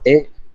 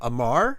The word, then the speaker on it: Amr: Amu. Hmm. A-M-R. A-M-R. I'm sorry, I didn't pronounce the name right. I'm sorry. Amu, A-M-U, No, R, R. A-M-R. A-M-R, Amar.